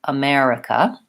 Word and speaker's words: America: on the second syllable it is stressed on the second syllable it is short long short short America yeah and it does